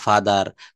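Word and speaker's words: father: শব্দের শেষে আর থাকলে আর এর উচ্চারণ করা লাগে না। যেমন ফাদার মাদার, সিস্টার, ব্রাদার।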